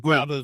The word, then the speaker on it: Gouda: Is that the proper way to say it? Not gouda. Most most of us say gouda. But galda is the right way.